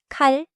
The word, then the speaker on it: 깔: Now the tens sound. Tighten the start like the sound is held for a split second with almost no air. The throat and mouth feel firmer the start. Not louder, just tighter. Now hear them in a row.